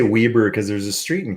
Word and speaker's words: Weber: i see i say weber because there's a street in kitchener ontario where i'm from named weber it's spelled like you spell your name but we always pronounce it weber all kitchen rights france